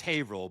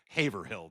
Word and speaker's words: Haverhill: If you're not from around here, it's Haverhill, but it's spelled Haverhill, dude.